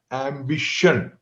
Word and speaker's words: ambition: t i o n any word that ends with t i o n then she comes in the you know like